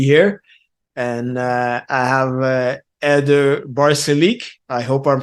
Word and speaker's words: Balcerek: And I have Eder Barcelik. I hope I'm pronouncing your name right. Close enough. so how do you pronounce it? Balcerek is the American pronunciation.